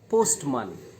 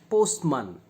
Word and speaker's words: postman: But the same vowel in the second word, postman, postman, it is not a, it becomes weak a.